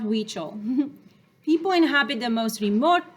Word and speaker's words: Huichol: Huichol, pronounced Huichol.